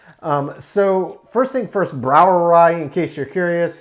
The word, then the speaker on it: Brouwerij: so first thing first browerai in case you're curious it's a brou that is the dutch spelling of the word brewery though it is pronounced the exact same as german it is the dutch